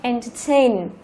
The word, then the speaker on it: entertain: Đó, thì trọng âm nó sẽ rơi vào thành phần thứ 3 là tain, đó, entertain.